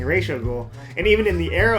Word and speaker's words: Ra's al Ghul: Yeah, so I prefer Raish al Ghul.